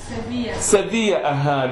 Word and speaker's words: Sevilla: Sevilla. The Spanish people, they can pronounce it better.